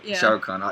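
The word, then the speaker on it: Shah Rukh Khan: Shahrukh Khan.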